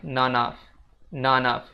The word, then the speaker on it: none of: Dan untuk level up skill pengucapan, Untuk kata none of-nya itu disambung ya guys. Jadinya none of gitu. Jadi bakal kayak gini guys. It's none of your business. It's none of your business gitu. Jadi bacanya none of.